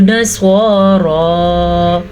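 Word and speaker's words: نصارى: पढ़ना है हुदन औ नस्वारा। स्वाद को पुर पढ़ना है क्योंकि स्वाद के ऊपर स्वाद हमेशा ही पुर पड़ जाता है, जबकि रा खड़ी ज़बर की वजह से पुर पड़ी जाएगी।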